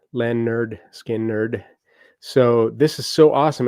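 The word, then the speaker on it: Lynyrd Skynyrd: Pronounced Len Nerd Skin Nerd.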